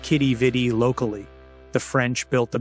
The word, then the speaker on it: Quidi Vidi: The name's origin is debated, with theories linking it to French planters or meaning "what a beautiful sight," though pronounced Quidi Vidi locally.